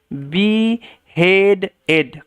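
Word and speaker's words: beheaded: বলা হয় বি হেডেড এই ডি এর পরে ইডি থাকলে ইডির সম্পূর্ণ উচ্চারণ হয় এবং টি এর পরেও ইডি থাকলে ইডির সম্পূর্ণ উচ্চারণ হয়। আদারওয়াইজ কিন্তু ইডি থাকলে শব্দের শেষে শুধু ডি এর উচ্চারণ হয়।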